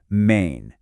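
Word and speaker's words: मैं: Now, for the pronunciation, it sounds a lot like May, but you add this soft, kind of nasal N sound at the end. Main.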